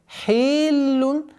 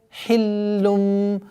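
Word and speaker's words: حِلٌّ: Хиллум. Нет. Хиллум, хиллун, это является ошибкой. Хиллум. Сперва удвоение, потом огласовка дамма, а потом уходим мы в насализацию в размере 2 огласовок.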